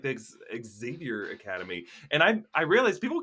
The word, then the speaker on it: Xavier: And I'm like, Xavier.